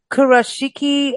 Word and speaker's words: Kurashiki: if please everyone forgive me if I don't pronounce these names correctly because I've never been to Japan but kurashiki a ban Historical Area yes it's the kishiki